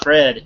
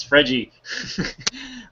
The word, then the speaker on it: Fred: that striker Fred and it's not Fred its Freddie um but that one